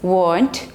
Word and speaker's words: weren't: But in British, generally R is silent, like daughter, daughter, no R.